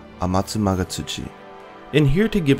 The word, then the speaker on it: Amatsumagatsuchi: not its full name "Amatsumagatsuchi" And here to give a demonstration of how it's pronounced with Japanese pronunciation Is my lovely six-year old daughter Yuno "アマツマガツチ" Amatsu is the online